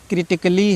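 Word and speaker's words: critically: फिर क्रिटिकली है, ठीक है। इसमें भी ए के बाद डबल LY आया है, ठीक है। इसको भी जो है आप नहीं प्रोनाउंस करेंगे।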